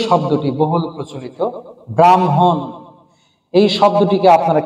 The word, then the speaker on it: ব্রাহ্মণ: তাহলে এর উচ্চারণ হবে ব্রাহ্ম, আগে ম হবে, তারপরে হ। সুতরাং উচ্চারণ হবে ব্রাহ্মণ। উচ্চারণ হবে ব্রাহ্মণ।